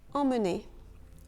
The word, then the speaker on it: emmener: Emmener. Emmener. Dans ce cas, le E, M, M, E est en fait deux sons. EM, en, et ensuite on a mené.